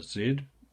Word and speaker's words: Z: traditional way right so for those of you who say Z forgive my pronunciation and by the way that is um a zed um to distinguish it from my twos okay Z2 okay so